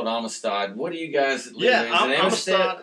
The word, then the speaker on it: Amistad: to uh to Lake I always call it Amistad what do you guys Amistad is correct you hear a lot of pronunciations Amistad or or the locals call it Amistad so I'm always afraid when I talk to